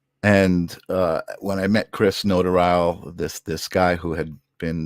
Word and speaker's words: Notarile: It's Notarile. Oh, Notarile. You know what? I was gonna actually. That was gonna be my first question too. Have I been pronouncing this wrong Yes, this for whole years and time.